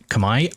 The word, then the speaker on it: Khmer: Why is Khmer pronounced Kamai? I was just told that it was, and I saw a YouTube video where a dude who speaks the language says that it is Kamai, and that apparently like